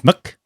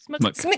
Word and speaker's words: SMK: I'm pretty sure that's pronounced Smuk. Smick. Yeah.